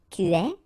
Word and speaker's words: es: Okay, so je suis, final S not pronounced, tu es, okay, so it's quite strange because you get this ES, but then phonetically it's est, alright, quite open, tu es.